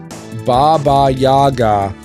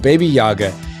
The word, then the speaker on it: Baba Yaga: right Neko says and it's pronounced Baba Yaga but then again that might have been too hard well I no you see you think so but baby Yaga is the Francisco lore pronunciation and I am king of